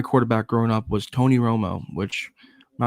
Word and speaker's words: Romo: quarterback is named Tony Romo, and he's notoriously known for choking, and his name rhymes with homo.